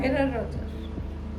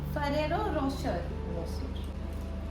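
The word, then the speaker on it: Ferrero Rocher: তোমাকে আমি দিয়েই দিলাম ফেরার রচ না হ্যা ফেরার রচর না না এইটা অনেকবার শুভর আমি কারেক্ট করিয়েছি তোমাকে এইটা তোমাকে বলতেই হবে ঠিক ফেরারের না মা এইটা তোমাকে ঠিক বলতেই হবে শুভ এই ভিডিওটা দেখবে ফেরার হ্যাঁ হ্যাঁ ও আচ্ছা ফেরারের রোশ ফেরেরো রোশ আচ্ছা তো কি কঠিন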